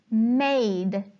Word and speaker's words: made: a word as in made it has the e at the end of the word another clue in the case of the silent e the e doesn't make a sound if we look at